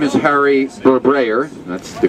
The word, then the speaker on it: Barberi: My name is Harry Barberi. That's the correct pronunciation.